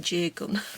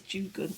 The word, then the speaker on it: Jugun: Look, it says here Jugun, just in case you're thinking why aren't you saying Jagun, but it's Jugun.